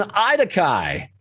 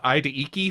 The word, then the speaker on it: Idakai: I think we called them Idaiki for a little while, and then we just sort of landed on a Daikai.